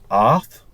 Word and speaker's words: Ard: like so it's the the pronunciation of it is kind of like arth it's like almost like dth like you know a